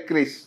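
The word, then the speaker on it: QRIS: Kris itu yang sama Trump ditentang, Kiris itu, bacanya Kris itu, yang diciptakan oleh Bank Indonesia.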